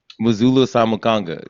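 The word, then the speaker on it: Muzala Samukonga: Muzulu Samukanga.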